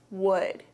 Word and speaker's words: would: La palabra would tiene una l, pero no se pronuncia, así que no es would, es would.